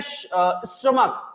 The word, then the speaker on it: stomach: मैंने आपसे बोला बच्चे कि अगर मैं स्टमक, STOMACH, स्टमक, स्टमक की स्पेलिंग क्या है? तो आप बोलोगे सर STOMACH। तो भाई ये CH का साउंड क्या आ रहा है यहाँ पे?